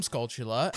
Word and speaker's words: Skulltula: And yes, I pronounce them Skulltula.